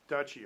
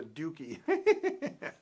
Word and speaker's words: duchy: castle where they lived okay so i said it right dutchy okay thank you mark okay i i didn't think it was a dookie yes that's right yeah